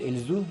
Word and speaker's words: Лизу: в дом качестве невесты лизу именно так ударение на последнем гласными произносит имя родственники мужа близкие жениха